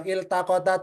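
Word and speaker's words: التقتا: Kalau isim alifnya fatkah. Al misalnya alkitabu almjidu alif lam bacanya a kalau isim ini kan fi'il il taqota il bacanya ya siapa saja rankingnya nomor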